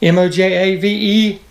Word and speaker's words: Mojaveki: So a good friend of mine, Mojave KY, check out his channel. It's just how it's spelled, Mojaveki, sent me the Rode microphone that you are watching.